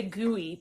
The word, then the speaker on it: Gui: How do you say, is it Guy? G-U-I? I'm not Is that sure. how you say it? G-U-I, Guy. I want to say gooey, but I do that's too.